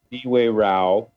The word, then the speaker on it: Niue Rao: A lot of people have a hard time pronouncing it. Niue Rao.